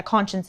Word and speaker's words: Conscience: to be using the font conscience or yeah conscience is how it's pronounced um and it's just like a block